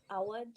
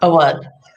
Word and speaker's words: Awad: So it's pronounced Awad, not Awad.